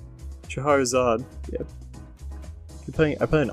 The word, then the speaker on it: Scheherazade: Am I pronouncing that right? Scheherazade.